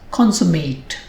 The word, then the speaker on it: consummate: of sincerity or dedication when it is a verb it is spoken as consummate if two people consummate